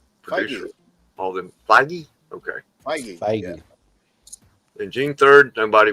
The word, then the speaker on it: Feige: Feige. President of Marvel Pictures or whatever. Producer. All them. Feige? Okay. Feige.